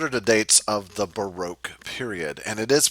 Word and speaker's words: Baroque: So, what are the dates of the Baroque period? And it is pronounced Baroque.